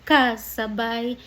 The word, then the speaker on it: kasabay: So let's emphasize that dito sa second line sabi niya ngunit ibang lagi mong kasabay. So take note emphasis on the syllable ka kasabay kahit madalas kang sumasablay